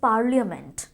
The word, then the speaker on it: parliament: Okay, तो पार्लियामेंट में हमें उस जो LIA है उस A का बहुत ज़्यादा स्ट्रेसफुल साउंड नहीं बनाना है, बहुत ज़्यादा स्ट्रेस नहीं करना है A पे।